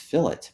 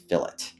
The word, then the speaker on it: fillet: you want to do that and it is pronounced fillet believe it or not I know the lean